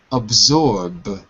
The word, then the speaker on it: absorb: The next word is absorb. Absorb. Absorb. Good. Remember, the S is like a Z, like a zebra.